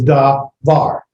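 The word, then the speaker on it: דבר: Most Hebrew words are accent at the end of the syllable, at the end of the word. Most the accent's at the end of the word, davar.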